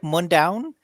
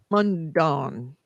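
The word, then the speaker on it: Mundaun: how to pronounce it it looks like mondown moon down m-u-n-d-a-u-n mondon i would call it it looks like dawn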